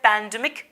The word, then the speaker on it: pandemic: Don't say pandemic, it's pandemic, okay? Stress will be on the second syllable, pandemic, like magnetic, dramatic.